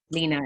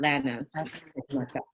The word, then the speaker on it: Lena: I appreciate you and I apologize for um pronouncing your name wrong. Lena and not Lana.